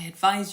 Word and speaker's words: advise: advice and the word advise which is the verb as in I advise you to listen carefully finishes with a z sound Z which is voiced now this is another